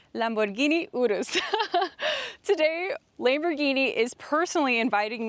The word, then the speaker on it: Urus: It's Michelle, and today behind me I have a 2025 Lamborghini Urus SE, or correctly pronounced Lamborghini Urus.